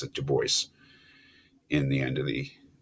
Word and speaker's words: Du Bois: is it is pronounced de bois by the way i know it's french but he's was american right so he pronounced it du bois in the end of